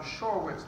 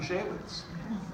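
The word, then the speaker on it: Shaywitz: It was Dr. Shorwitz, Dr. Shekowitz, Dr. Shavitz. But he actually never once said Dr. Shawitz.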